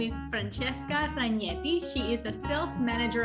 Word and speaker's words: Ragnetti: doing yachting okay so my name is francesca ragnetti has you already pronounced very well because normally people pronounce my surname like ragnari and when i speak